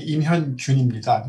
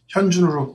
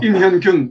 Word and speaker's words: 임현균: 네, 이름이 임현균입니다. 제가 현준으로 발음하시는 분이 많아서. 임현균, 예, 예.